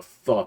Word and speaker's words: pho: That's how you pronounce it? The I thought it was PHO? pho, yeah. Yeah, no, it's pho. That's how I prefer.